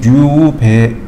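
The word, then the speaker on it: 立米: 그다음에이 어방미의 일본식 발음이 류베 류베에라고 하더라고요.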